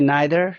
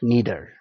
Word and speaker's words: neither: and neither does he you can also say neither neither neither is american pronunciation for any ithr neither